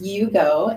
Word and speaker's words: Iugo: yeah right it yes it's so it is pronounced Yugo and um it means connecting connecting um just